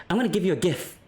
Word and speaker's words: GIF: know like see my my logic is this like sure GIF are the first letters in gift and that does have a a hard G I'm pretty sure I'm getting my soft and hard G correct here um that's true but I think there is a word that is closer to GIF than gift and that's the word gin as in gin and tonic that's like